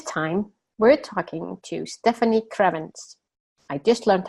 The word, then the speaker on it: Krievins: This time, we're talking to Stefanie Krievins. I just learned how to say her last name. I just learned to say that it's not Evans, it's Krievins.